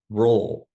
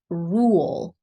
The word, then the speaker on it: rule: Roll. Yes, but I need to hear the vowel as well. Don't cut it short. Rule.